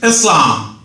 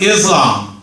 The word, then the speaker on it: Eslam: are we going good my name is Islam thank you very much uh it's often mispronounced as Islam by Americans but I'm not surprised